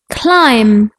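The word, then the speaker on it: climb: teachers in the class silent letters are letters that are written but not pronounced like the letter B in bomb Klim lamb some like the letter C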